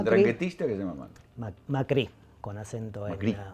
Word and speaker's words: Macri: Macri, con acento Macri. Macri, con acento en la I.